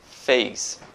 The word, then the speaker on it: face: esse significado face rosto fez notem que eu não pronunciou-se no final fez tem só um som de s f&s fez de mais